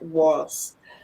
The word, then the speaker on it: was: nine and uh um try to pronounce that correctly it's not was um we don't have that were sound V okay but this